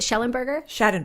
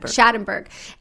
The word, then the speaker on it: Schadenberg: I've spoken to Alex, I always say his last name wrong. Is it Schellenberger? Schadenberg. I spoke to him again